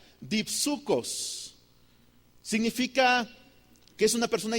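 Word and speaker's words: δίψυχος: La palabra doble ánimo, hermanos, en en griego se pronuncia dipsucos.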